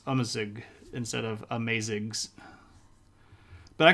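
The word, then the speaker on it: Amazigh: It doesn't actually pronounce like amazing at all. It's more like amazig. The A's in Arabic act quite differently than A's in English do. And the first one is almost like a U sound.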